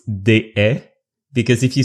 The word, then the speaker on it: Deshaies: if you want to practice your French, it's Deshaies, because if you say déchet in French means trash.